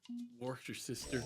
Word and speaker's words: Worcestershire: Someone think said it's wash your Worcestershire. sister, and it's just easier. Wash your sister.